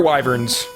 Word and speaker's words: wyvern: i'm in a good place now these star wyverns which for a long time until actually just